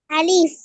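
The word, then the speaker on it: ألف: হ্যাঁ, আমি একটু আগে যে বললাম যে কিছু হরফ আছে টান ছাড়া পড়তে হয়, দ্রুত পড়তে হয়। তো এর ভিতরে একটা হলো কি আলিফ, কোনো টান হবে না, দ্রুত পড়তে হবে।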